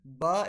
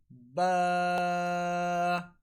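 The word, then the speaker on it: ب: And the letter ba is pronounced from the wet portion of the lips, which is on the inside of a little bit closer to the inside of our mouth, like ba.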